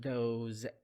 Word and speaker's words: those: The S in these words pronounced as Z sound. Those, these.